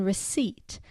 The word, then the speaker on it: receipt: debt and doubt and Asylum P in receipt and a silent L